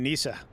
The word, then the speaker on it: Nisa: There's some contention on what exactly the pronunciation of his name is. The devs have been calling it Nisa, so when they say it out loud, so that's what I call it.